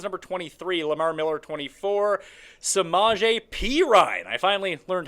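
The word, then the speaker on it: Perine: the Kris Thompson's number 23 Lamar Miller 24 semaj P Ryan I finally learned how to say it properly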